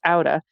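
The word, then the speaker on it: Átta: It's spelled A-T-T-A, pronounced Auda, and it is stunningly beautiful.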